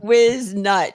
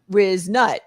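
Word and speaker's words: Whiznut: It's Wiznut. So Whiz is spelled with an H. It's WHIZ. So it's got it. Wiznut.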